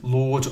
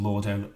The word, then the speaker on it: Lorde: The artist is called Lord, although I think that's how you pronounce it.